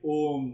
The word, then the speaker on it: Om: Om is made up of three syllables. A, U, Ma.